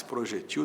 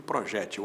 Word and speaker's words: projétil: projetil do que projétil as duas formas existem projétil para oxítona que termina em L com acento não é da sílaba G projetil sem acento oxítona as letras são as mesmas o acento É que muda Soror ou Soror né